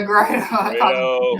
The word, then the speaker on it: Grado: I can't never pronounce his name right. I call him Chico. Oh, Chico. Grado? Yeah, Grado.